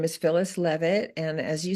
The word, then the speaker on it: Leavitt: Now let's get communicating with Phyllis Leavitt. Did I say that right? You Leavitt. did. You said it right.